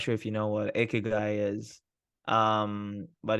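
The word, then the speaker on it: ikigai: framework I'm not sure if you know what akigai is um but it's this Japanese concept that um so it's spelled i k i g a i and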